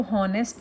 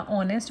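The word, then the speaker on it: honest: ऑनेस्ट में मैंने इसको होनेस्ट नहीं बोला। ऑनेस्ट बोला क्योंकि एच यहां पे साइलेंट रहेगा।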